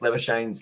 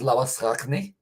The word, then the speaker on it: Labuschagne: So pretty much the original pronunciation of Marnus Labuschagne's last name is Labuschagne, which is pretty much the South African Afrikaan way of saying it. But it's actually Labuschagne.